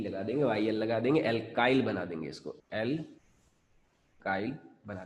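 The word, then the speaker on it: alkyl: लगा दिया, ठीक है, एल्काइल बोलेंगे इसको, क्या प्रोनाउंस करेंगे, एल्काइल।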